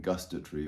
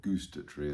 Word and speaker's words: gustatory: visual auditory kinesthetic um olfactory and gustatory or gustat Tre as some people say it's more the American pronunciation but engage all of